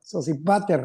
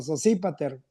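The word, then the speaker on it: Sosípater: Sospater está como en inglés o no sé qué sépat porque tiene acento en la i. Ah, sí, cierto. Sépípater.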